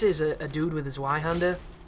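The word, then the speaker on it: Zweihänder: So this is a dude with a Zweihander, or a Zweihander as it's probably pronounced, because the W is a V in German.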